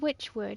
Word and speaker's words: Wytchwood: what is this game it's called Witchwood it's spelled with a Y for which um it's disappearing from